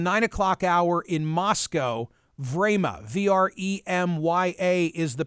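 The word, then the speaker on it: Время: television in the nine o'clock hour in moscow vrama v-r-e-m-y-a is the pronunciation quote i've been watching it frame by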